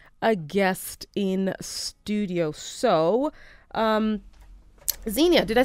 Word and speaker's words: Xenia: So, Xenia, did I say that right? Yes. There you go. I always tell on myself, right? So I mispronounced her name, and she was just like, Xenia.